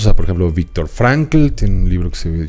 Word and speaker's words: Frankl: Bueno, él era Frankl. Pero se pronuncia pero, Frank. Sí.